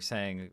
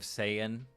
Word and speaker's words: Saiyan: Like how they're saying was they did saying instead of Saiyan for Goku's balloon.